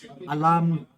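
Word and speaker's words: olomh: you know what spell o l o m h apparently pronounced Alam alarm alarm alarm no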